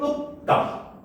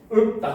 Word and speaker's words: 읊다: 치를 읍다. 그렇죠? 읍다 이렇게 되잖아. 그동안 읊다라고 읍다 하면 안 됩니다.